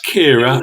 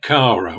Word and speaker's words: Kira: when you meet her remember it's Kira and not Cara AR yeah so you